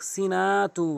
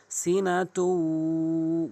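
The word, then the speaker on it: سِنَةٌ: পড়বেন লাহু সিনাতু সিনাতু অনেকে অধিকাংশলোক সিনাতু বলে পলা যাবে না সিনাতু গুন্না করবেন। এখানে গুন্না করবেন।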